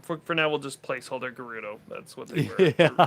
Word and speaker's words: Gerudo: For now, we'll just placeholder Gerudo. That's what they were. Yeah. Gerudo? Gerudo. Gerudo. Yeah, it's a Anyway, so that could be hard G.